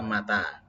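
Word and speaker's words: متى: Tapi bacanya yang benar. Mata ya. Yang panjang tanya. Kalau dibaca ma-nya yang panjang, mata artinya mati.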